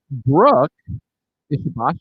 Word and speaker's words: Ishibashi: Japanese is phonetic, so well done.